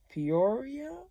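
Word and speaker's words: Pretoria: including is that Johannesburg and Peoria is how you say it and we're gonna take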